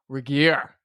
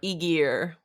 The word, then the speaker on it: Regier: You may have known her as Elyse Horb, but now she is Elyse Regier. That's right, with the hard G. You can also pronounce it Regier.